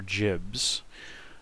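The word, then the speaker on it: gibs: Would that be Gibbs or Jibs? I heard a long time ago. Yeah, jib is in giblet, and I heard a long time ago that John Carmack pronounced it jibs, and considered the matter settled.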